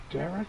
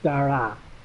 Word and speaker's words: Dara: Derek McDonough. Okay. How is she cutting? She's cutting good. It's not Derek. It's Dara. Isn't it Dara?